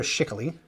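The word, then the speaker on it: Schickele: alter ego of Peter shickley which I've always heard that's how you pronounce his last name uh and this is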